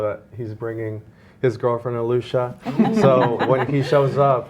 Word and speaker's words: Alisha: So I said Alicia because it's spelled Alisha, but it's pronounced Alusha.